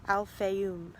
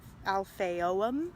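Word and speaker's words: Al Fayoum: the egyptian city and the actual pronunciation is al fayoom not al fayom which that was what i was saying it's actually al fayoon so we'll see if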